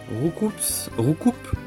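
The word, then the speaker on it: Roucoups: français, Aspico, Coconfort, Dardarnian, Roucoupe, parce que le S se prononce pas.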